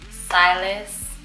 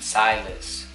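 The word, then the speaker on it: Siylas: So his first name is Silas, and we're going to spell it as S-I-Y-L-A-S.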